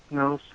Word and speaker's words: Lochnos: My name is Lochnos. Sorry, I almost have to cough when I say her name. That's how she's pronouncing it.